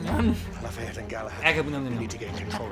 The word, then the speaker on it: Agamemnon: Agamemnon. Agamemnon. Just make the same sound you make when you like eat a peanut butter jelly sandwich. Really fast. Nom, nom, nom, nom. Lafayette and Galahad. Agamemnon.